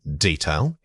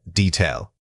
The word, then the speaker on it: detail: Wrong detail. Right, detail. Many speakers incorrectly substitute a long vowel sound here. Remember that the correct pronunciation requires keeping that first syllable quick and unextended.